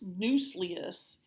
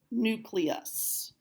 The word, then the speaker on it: nucleus: four is the nucleus underline the C and write the letter K up above it nucleus it is not pronounced noose leus it is nucleus nucleus it is the brain